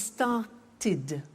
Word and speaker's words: started: If a verb ends with a T or a D, then the pronunciation of ed becomes id. And in fact, it's impossible to pronounce it any other way. Take an example, start. It becomes started.